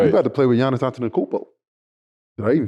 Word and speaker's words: Giannis Antetokounmpo: You about to play with Giannis Antetokounmpo.